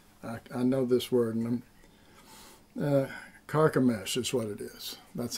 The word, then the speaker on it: Carchemish: river Euphrates, and I know this word, and Carchemish is what it is. That's how they pronounce it.